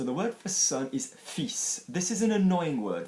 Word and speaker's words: fils: So the word for son is fils. This is an annoying word for learners because there is an F-I-L-S, but you are pronouncing the S.